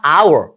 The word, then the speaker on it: hour: 모음이 발음 첫걸 자예요 겉보기에는 h 자음이 h 발음이 안 돼요 그래서 이거 이거 발음 기호를 보시면가 아니라 our 그래서 모음으로 시작하잖아요 그래서 모음으로 시작할 때는